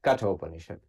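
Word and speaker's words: Katha Upanishad: all the others so the Kato panishad for listeners is spelled k-a-t-h-a right cut openership um so there you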